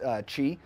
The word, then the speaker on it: Qi: wireless Qi charging it's it's spelled Qi but pronounced Qi and so this pad is a inductive coil